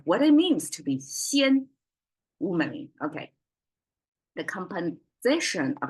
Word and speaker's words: 鲜: Today, same pronunciation, but flat tone, xian. And xian is, well, translate directly